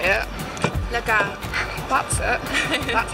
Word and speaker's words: La Gare: La Gare.